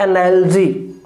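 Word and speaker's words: analogy: और ध्यान रखना जो ये रिवर्स 6 जो है ये अ का साउंड देता है और इसके ऊपर कभी भी स्ट्रेस नहीं आता, ये हमेशा अनस्ट्रेस्ड रहता है। तो इसका जो बोलने का जो हमारा प्रोनाउंसिएशन रहेगा वो रहेगा एनालॉजी, एनालॉजी। क्लियर है?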